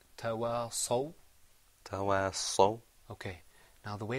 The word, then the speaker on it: تواصوا: So could you say tawasaw? تواصوا. Okay. Now the way to help you, that was right. Just remember now to purse your lips when you pronounce the sad sound. And have a full mouth.